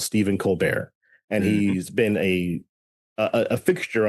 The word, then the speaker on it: Colbert: But and so successfully got his own spin-off show, The Colbert Report, which it just very, very funny that everyone immediately called it The Colbert Report, and no one had any problem with the French pronunciation.